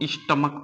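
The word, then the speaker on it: stomach: अब देखिएगा, इसका जब हम प्रोनाउंसिएशन करेंगे तो इसको हम कॉन्च नहीं पढ़ते हैं, इसको हम पढ़ते हैं कंक, इसको हम स्टमक पढ़ते हैं, और इसका प्रोनाउंसिएशन होता है मोनर्क, है ना, मोनार्क।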